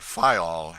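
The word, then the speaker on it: Fayal: The people there pronounce it Fol, and put the accent on the first syllable.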